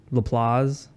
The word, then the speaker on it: LaPlace: So it's LaPlace, Louisiana.